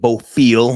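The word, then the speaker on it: Bofill: Some people pronounce it boofil.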